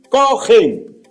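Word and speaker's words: כהן: El término original del Antiguo Testamento más o menos se pronuncia así, cogen, que se traduce como sacerdote.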